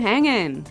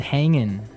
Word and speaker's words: hanging: Yeah, but usually you don't really pronounce the G in this context because it's very informal.